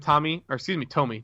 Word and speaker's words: Tomy: We just received news that Tommy are experiencing delays dispatching the non-USA Kickstarter card decks. We're working with Tomy, that's right. Forgot we've been pronouncing it wrong.